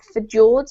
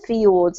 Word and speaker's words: fjords: in English at least we pronounce this word fjords not for George but fiords as if it were a why but thank you augment